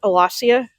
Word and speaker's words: Alashiya: You would have the SH sound in Semitic, but not in Indo European. So I tend to spell it with the Shin character, but I pronounce it Alashiya.